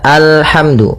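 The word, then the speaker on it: الحمد: Di sini kita baca alhamdu. Maka apabila ada alif lam di awal bacaan, maka a-nya dibaca dengan fathah. Alhamdu. Nah, di sini bukan ulhamdu tapi alhamdu.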